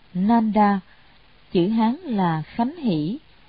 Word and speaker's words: Nanda: Ngài Nang Đà, Ấn Độ đọc là Nanda, chữ Hán là Khánh Hỷ, là em ruột của Phật.